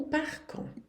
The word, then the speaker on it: part: vai ser quando um parco Quando que a gente parte Quando que a gente vai embora um Parc vocês vê que aqui o t do par não se pronuncia o de do qu